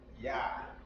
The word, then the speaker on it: Yah: So to pronounce that, that is Yah. Y-A. Just like in our English, Yah. That's how you say Yah in Spanish.